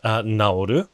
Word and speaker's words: 治る: So, they're both pronounced naoru, which is always the case.